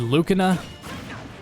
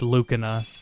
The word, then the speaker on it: Lucina: Her name is pronounced Lucina instead of Lucina.